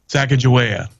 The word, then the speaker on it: Sacagawea: both times all right well what is it Sacagawea it's in the neighborhood that was right there